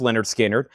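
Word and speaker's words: Lynyrd Skynyrd: Also pronounced Leonard Skinnard.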